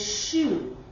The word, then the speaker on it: choux: day and um so the French word for cabbage is shoe and it's spelled c h o u x and the and that's